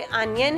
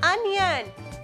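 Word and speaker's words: onion: इसे बोलते अनियन है बट जब हमें स्पेलिंग लर्न करनी है तो हम ऑनियन बोलेंगे. ओ एन ऑन आई ओ एन ई एन ऑनियन. इसे प्रोनाउंस क्या करते हैं? अनियन.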